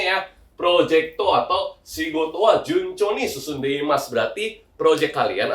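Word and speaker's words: 順調: Betul, cara baca gitu adalah juncho ya, artinya itu lancar.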